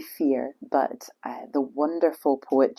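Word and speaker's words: fiere: going to call it Feerie um which is spelled f i e r e which is an old Scots word for friend. Um it's actually fear, but uh the wonderful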